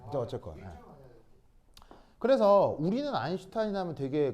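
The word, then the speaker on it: Einstein: 바로 아인슈타인. 아인슈타인입니다. 뭐야 이거 지금. 아인슈타인입니다. 독일어로 아인 이 일이고요. 이게 그 S가 쉬 발음이 나거든요. 독일어에서 그래서 슈타인입니다.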